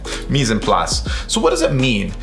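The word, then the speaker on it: mise en place: actually a culinary term it's called mise and plus misen plus all right and that's spelled m-i-s-e and then e-n and then plots will spell like place right meas and plus so what does it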